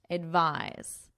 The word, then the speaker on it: advise: take medication advise advice so notice the pronunciation difference advice advise advice advise this is our noun and this is our verb spelling difference and pronunciation difference as well this includes a non-drowsy